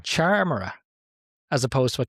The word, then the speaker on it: Charmera: I think it's a charmera as opposed to a camera.